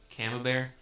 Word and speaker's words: Camembert: Camembert.